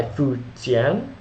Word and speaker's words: Fu Jian: time but worth mentioning led by fuan who we will cover in specific biography that's f u j i a n former chin conquered many